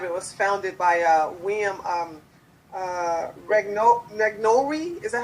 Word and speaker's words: Regnery: In 2005, well, you're the president, and in 2005 it was founded by William Regnery. Is that how you pronounce it? Regnery, yeah.